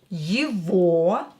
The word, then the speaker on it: его: And memorize that this G here is pronouncing this word as V.